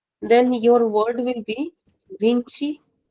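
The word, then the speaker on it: vinte: In European Portuguese, we say vintish.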